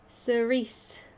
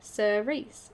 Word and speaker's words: cerise: Cerise is how you say it. Cerise.